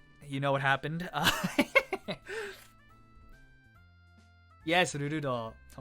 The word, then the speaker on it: Rurudo: Rurudo, fucking the way you pronounce that, Rurudo.